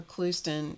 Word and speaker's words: Clouston: Anyway, check her out, Jennifer Clouston. It's spelled like Houston, Texas, and pronounced Clouston.